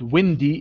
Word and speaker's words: wind: different this is different here wind is a noun and windy is an adjective but here this is a verb wind okay even its pronunciation is different and the past simple